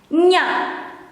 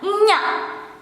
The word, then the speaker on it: nya: How to pronounce this is the same or similar when you have to pronounce kanye, nye. You change the e into a, nya, nya.